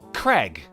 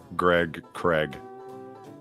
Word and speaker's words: Craig: __ ] different reason you say it like the name Greg as in Gregory Gregory right Greg right Craig Greg Craig there you go see now